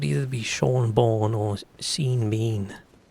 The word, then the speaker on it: Sean: And that is spelled and pronounced Sean, so I was cool with that, but this whole other spelling, not a fan.